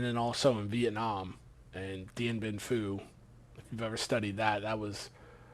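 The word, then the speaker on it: Điện Biên Phủ: Yeah, Dien Bien Phu.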